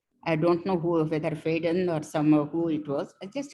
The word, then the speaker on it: Faden: Some Faden, Faden or Faden, his name is F-A-D-N. I pronounce it in the French way, Faden, Faden.